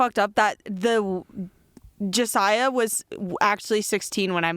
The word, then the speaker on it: Josiah: you pronounce my name how do i say your name josiah it's josiah josiah i know everyone makes